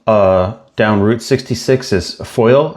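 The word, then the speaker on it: Foyil: Another 3 and 1/2 miles uh down Route 66 is Foil. I think I hope I'm pronouncing that right. It's f o y i l, Foil, Oklahoma.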